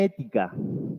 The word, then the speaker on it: ética: Y una palabra, que es la que está acá, lleva acento en la primera E, que se llama ética.